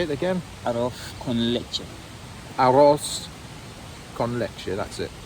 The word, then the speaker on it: arroz con leche: Arroz con leche.